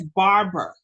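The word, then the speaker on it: barbae: There's Barber folliculitis. That's what I need to tell you. Barber folliculitis. And Barber folliculitis is not spelled like a barber, but it's spelled like that.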